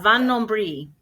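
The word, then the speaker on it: Vin Nombril: So this one has on the bottom of it, Vin Nombre. Am I pronouncing that right? Yeah, Van Nombre. Van Nombre.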